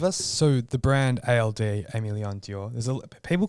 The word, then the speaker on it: Aimé Leon Dore: little people call it there's a few different ways people pronounce it that's how I pronounce it yeah I think it's am Leon door yeah there'd be like a great way to pronounce that yeah so so the the